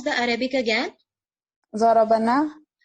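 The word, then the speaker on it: ضربنا: Darabana. Darabana. Don't say it darabna. Otherwise the meaning will change.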